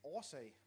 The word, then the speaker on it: årsag: Ingen årsag. Ingen årsag. So you might want to, on the second word, it's actually a double A, so it's pronounced or.